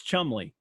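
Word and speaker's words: Cholmondeley: the word is spelled chal mondelli c-h-o-l-m-o-n-d-e-l-e-y there's several syllables there and in but for the british it's just you guys know it it's chumley humbling so yeah just charming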